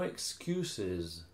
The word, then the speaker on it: excuses: In plural, you have to add E-S. Extra like syllable. Like bosses. Bosses. Bosses.